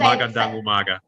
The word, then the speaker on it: magandang umaga: Slowly, That's magandang umaga.